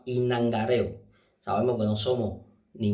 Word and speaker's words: inangareo: y nangareo se llama el término usado vulgarmente en la calle es yangarejo eso está mal se llama inangareo sabemos que no somos